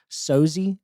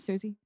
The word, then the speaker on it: Sosie: Sosie, Sosie. Something. It's not Susie. Well, I don't know. It's spelled Sosie.